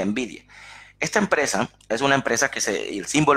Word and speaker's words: NVIDIA: de ellas es la que se conoce como envidia se llama así en el vídeo se pronuncia en vídeo esta empresa es una empresa que es el